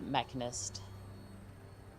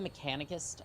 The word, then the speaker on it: Mechanist: And then we'll go confront the Mechanist. I think I've said Mechanicist by accident, so that's fun.